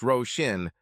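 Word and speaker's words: Róisín: "It's pronounced Roshin, but she prefers Rose.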